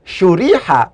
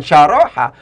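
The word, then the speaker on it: شُرِحَ: Ketika kemudian cara baca shin roha ini dibaca syuriha, bukan syaroha, maka otomatis dia diikutkan pada kaidah dhamma awaluhu wa kusira ma qoblal akhir.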